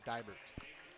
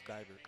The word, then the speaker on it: Dibert: And 42, Nolan Dibert. Dibert. No, he told me it was Dibert. Did he? Yeah. I've been saying it wrong all these years.